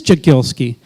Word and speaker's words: Jagielski: I've had two people pronounce. One said Jagielski and one said Jagielski. Do you have a preference for that? It is Jagielski.